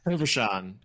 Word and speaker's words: Hervochon: with me, and is going to pronounce his last name because I've already lost it. what's your last name? Hervochon. Pleasure to see you, Brett. Hervochon.